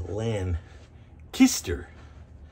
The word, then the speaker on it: Lancaster: years i've been saying lancaster for lancaster pa but i've been recently told that it's a lan kister i think oh that's